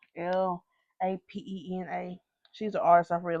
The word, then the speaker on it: Lapena: I think Lapena is right though. Lapena.